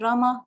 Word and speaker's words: Rama: hare krishna pronounced krishna and rama rhymes with drama are sanskrit words hare